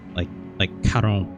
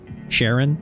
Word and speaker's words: Charon: I keep wanting to read it like Charon, but I know that's not correct. Sharon, it's pronounced Sharon.